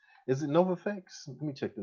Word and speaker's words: Novavax: uh stocks uh particularly um mcdermott and uh novavex is it nova fx let me check the name and make sure i'm pronouncing that right uh i mean yeah it's uh novavax right i was focusing on those two in